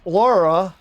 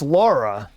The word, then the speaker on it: Lara: Remember the pronunciation, Nazis? It's not Lara, it's Lara.